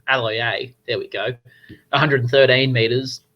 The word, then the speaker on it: Aloiai: Josh Aloiai with, I've butchered his name, Aloiai, there we go, 113 meters.